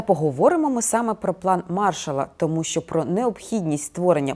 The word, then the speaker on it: Маршалла: говорять про так званий план Маршалла Саме так з наголосом на перший склад або ж програму відновлення